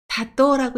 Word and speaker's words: 里: 훈독은 사또라고 읽습니다.